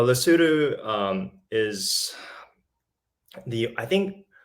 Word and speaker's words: Lesotho: their brain and for most people they mispronounce La Souza as Lesotho but lesudu um is the I